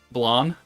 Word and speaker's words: Blanc: For Blanc, you just pronounce the C. Blonde. Like flan, but with a B.